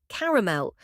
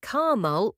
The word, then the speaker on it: caramel: Number four, caramel. You can't watch Willy Wonka without hearing this word. A lot of people say car-mahl with two syllables, but the standard pronunciation is car-a-mel, three syllables.